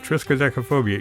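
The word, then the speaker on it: triskaidekaphobia: triskaphobia trophobia yeah that's how you say it triskaphobia you all know what that is that's a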